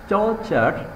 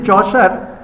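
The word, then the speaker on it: Chaucer: and reading will be এপ্রোপ্রিয়েট will be comparing চর্চার চর্চার you know English poet yeah Geoffrey চর্চার Geoffrey চার চার চার প্রোনাউন্সিয়েশন চার this চসার English poet author and civil servant this চসার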